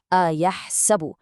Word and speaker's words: Yahsabu: First, do not mix up the hamza and the ayn. Say it correctly. Yahsabu. People accidentally swallow the letters here. Feel that ayn coming from the middle of your throat.